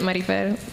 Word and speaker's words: Marifer: So if you could pronounce it, Marifer. You got to roll the R.